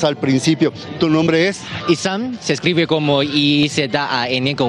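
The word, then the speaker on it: Izan: Isam. Se escribe como I-Z-A-N con un acento en la letra A.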